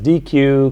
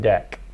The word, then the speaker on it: deque: list as well as DQ cloneable and and several other things not excuse me not DQ deck let me say it correctly all right any questions